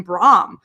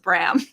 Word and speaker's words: Bram: well first of all we don't know how we pronounce his name because originally phil would call him brahm and we're like yeah okay uh and then me and julius would just always call him bram so now it's just bram i mean everybody would